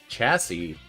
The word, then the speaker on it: chassis: like the chest right Google chassis that's how it's pronounced the base frame a